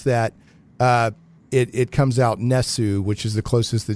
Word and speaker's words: NES: according to Nintendo 3ds it's supposed to be pronounced Ness not NES and supposedly the the